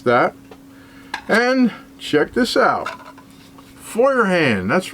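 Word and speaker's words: Feuerhand: Foyerand. That's right. I can finally pronounce it right now after uh so many years of saying it wrong.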